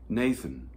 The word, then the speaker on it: Nathan: you considered my servant nathan he's a general screw-up who continues to love me anyway based on chapter 1 verse 8. and i've worried for years that my name rhymes with satan but they keep telling